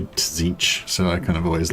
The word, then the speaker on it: Tzeentch: Actually, do you pronounce the T in Z? It's like just, is it Tzeentch or is it just Tzeentch? It's just kind of Tzeentch, isn't it?